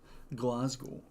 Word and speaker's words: Glasgow: But you said Glasgow weird. Glasgow, yeah. Say it like the famous Scottish wrestler Drew. Glasgow.